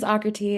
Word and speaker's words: Aakriti: So my name is Aakriti. It's pronounced like Socrates without the S's, if that's easier for the listeners to think about.